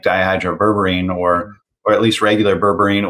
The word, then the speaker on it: dihydroberberine: sugar regulation, but anti-aging is the berberine, the dihydroberberine.